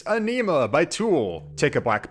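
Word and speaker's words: Ænima: out nice I just had to Google the pronunciation real quick just to make sure I got it right it's anema by Tool take a Black Banner give it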